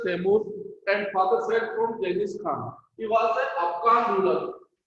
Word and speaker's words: Genghis Khan: They belong from the Genghis Khan और इसको हम हिंदी में बहुत बार प्रोनाउंसिएशन चंगेज खान भी बोलते हैं। तो one side they belong from the Janice खान और mother side they belong from the Taimur.